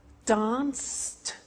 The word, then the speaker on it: danced: Watched, danced, eliminate the E, pronounce the T.